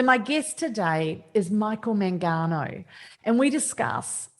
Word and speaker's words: Mangano: Mangano? Mangano, but in Italian it's Mangano.